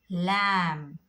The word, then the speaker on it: lamb: So whenever you get B before M, so you have to become silent with the B.